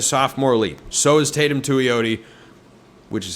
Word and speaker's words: Tuioti: So has Tatum Tuioti, which is how you pronounce his name, by the way.